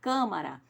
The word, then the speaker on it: Câmara: quando a gente fala Câmara a sílaba tônica está no Khan e leva o leva o acento circunflexo e se a ele é fechado hum se fosse aberto